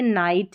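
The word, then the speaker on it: night: तो GH का उच्चारण नहीं हो रहा है, ये साइलेंट है। जैसे ये नाइट है, फाइट है, ऐसी वाली कई सारी स्पेलिंग्स आपको मिल जाएगी।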